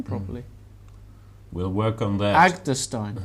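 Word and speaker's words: Agdestein: Agderstein. Agderstein. Right. I've been saying Agderstein. Edgestein? Agderstein. Goodness me. No edge to Agderstein.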